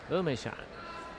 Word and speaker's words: Emeishan: You know, it's spelled Emeei. It's pronounced Emeishan.